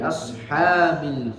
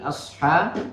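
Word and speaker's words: أصحاب: Ya, bi ashab huruf shad itu harus dikeluarkan dengan suara yang naik ke atas langit. Ya, jadi naikkan ashab. Jangan terbaca asha atau terbaca asha. Ya, tapi dinaikkan suaranya. Ashab.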